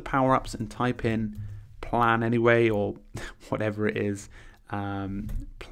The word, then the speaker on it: Planyway: It took me a while to be able to say Planaway. I was going to say Planyway. Oh my God, I'm getting it wrong. It's Planyway. Planyway. It's really hard to pronounce, but I just call it Planyway calendar.